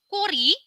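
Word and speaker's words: 꼬리: Kemudian di sini saya memberikan sedikit contoh kosakata daripada 5 gabungan kosakata gabungan yaitu kori, kiok ketemu o, sang kiok ketemu o jadinya ko, real ketemu i jadinya ri.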